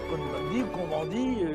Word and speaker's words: Cohn-Bendit: Monsieur Cohn-Bendit, parce que nous sommes en France, on prononce à la française.